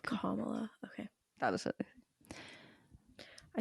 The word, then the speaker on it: Kamala: Or just think of calm. Like Kamala.